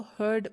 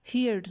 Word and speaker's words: heard: अब देखें ये हियर है, इसकी सेकेंड और थर्ड फॉर्म हम इसको हर्ड प्रोनाउंस करेंगे, हियर्ड नहीं होगा, ठीक है, इसको हम हर्ड प्रोनाउंस करेंगे।